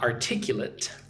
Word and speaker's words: articulate: So, depending on how this word is used, it will actually get pronounced differently. So, in this case, uh articulate is an adjective. Right? I would say he is very articulate. Ar-tic-u-late. Right? Again, it's an adjective. Right? Let's look at the example real quick before I go on. She is highly articulate and can explain complex ideas in simple terms. Right? But, as a noun, it's articulate.